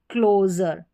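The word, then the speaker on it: closure: तो यहाँ पर सभी स्पेलिंग्स में SURE है और सभी में जर करके प्रोनाउंस किया है। जैसे देखिए मेजर, फिर है प्लेजर, ये है ट्रेजर, और क्लोजर, क्लोजर जर करके साउंड आ रहा है किसका?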